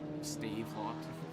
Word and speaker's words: Stavelot: How do you pronounce the other one? Stavelot? Stavelot.